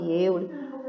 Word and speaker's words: Euler: Se escreve Euler, mas se lê Euler.